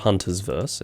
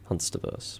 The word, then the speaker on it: Hunsterverse: It's not Hunter's Verse, it's Hunsterverse.